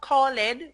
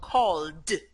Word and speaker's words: called: words only a few in most cases the e is silent or it's a very short e so it's not calling but called called short short e